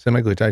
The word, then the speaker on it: semaglutide: saw this thing about this doctor talking about semi glutide is that how you say it semi glutide yeah semi glutide it's like the one of